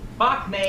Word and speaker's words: Pak Mei: Pak Mei is the way it's usually pronounced.